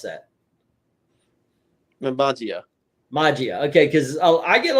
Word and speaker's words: Magia: How do you pronounce that? Magia.